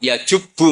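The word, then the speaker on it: يَجُبُّ: Terus Nabi ngendikan, "Alislamu yajubbu maqoblah." Itu bacanya bukan yajibu tapi apa?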